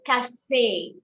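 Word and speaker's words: café: a tool of pronunciation whenever you see an e with a song you have to pronounce it you give a a sound so it is not it is cafe it is saute it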